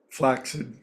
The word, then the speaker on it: flaccid: It's one of those words that has two C's in a row, which is always pronounced as an X. Vaccination, accident, occidental, flaccid.